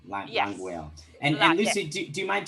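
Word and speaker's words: Langweil: Languile. Yes. Languile.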